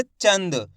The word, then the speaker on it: चांद: इसका उच्चारण आधे 'एन' की तरह होना चाहिए। इसका मतलब है कि इसका उच्चारण जल्दी से किया जाना चाहिए। कैसे? चंद। आपको इसका उच्चारण इस तरह नहीं करना चाहिए। चान। अगर आप 'चांद' का उच्चारण करेंगे , तो आपको पूरी 'एन' ध्वनि सुनाई देगी। इसलिए यह गलती न करें।